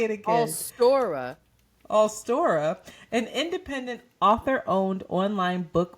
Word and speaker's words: Allstora: Award-winning host and drag performer RuPaul has launched All Sorta, an independent... What'd you say? Just what did you say, nigga? This is about reading. What is it? How do you say it? Just say it again. Allstora, an independent author-owned online book marketplace offering more